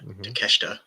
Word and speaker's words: Takeshita: We saw Kyle Fletcher and Takeshita.